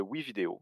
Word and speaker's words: WeVideo: Ouvrez un nouvel onglet sur Google Chrome et rendez-vous sur le site de WeVideo. Ça s'écrit comme ça se prononce, W-E Vidéo.